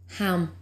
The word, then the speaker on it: HAM: The mantra is HAM, H-A-M.